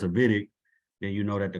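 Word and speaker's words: Wittig: what we call a vidic I know it's w but it's pronounced like a V it's a German word um and levitic is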